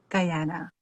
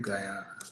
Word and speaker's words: Guyana: Guyana.